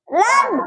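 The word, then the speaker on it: لام: alhamdulillah, তাহলে জিব্বার agar কিনারা সামনের মাড়ির দাঁতের গোড়ার সঙ্গে লাগাইয়া লাম উচ্চারণ করিতে, এটা লামের মাখরাজ, লামের সিফাত, লামের গুণ, এটা তাই না, স্বভাব।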